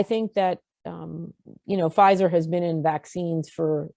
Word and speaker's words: Pfizer: people where i worked they said pfizer or that fister is that that company that makes faucets i'm like no it's pfizer it's a company that